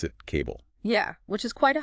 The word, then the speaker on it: CBBLE: And the text says, pronounce it cable.